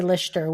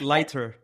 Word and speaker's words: Leichter: like PM Mayo Lster but I say Lester we've American, right? But whenever I speak to Germans they just like ah or however you pronounce it. It's like lighter. It's lighter.